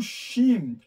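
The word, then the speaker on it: שׁ: é do lado direito Então essa letra é o xim ela tem um som da letra s H Ok e o xim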